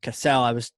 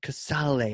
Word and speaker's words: Casale: I need to introduce you to Juliana Casale. Or Casale actually is how you say her last name.